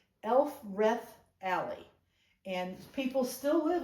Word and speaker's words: Elfreth: And it's, I'm going to say it correctly, Elfreth Alley.